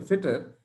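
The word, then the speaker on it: Fittr: So whether you say fitter with an E, one sec, whether you say fitter with an E or fitter without an E, both sound the same.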